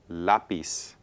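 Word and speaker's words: lápiz: stress so listen again lapis ah lapis okay it's not lais it's lais no we want stress in that second to the last syllable okay so again ends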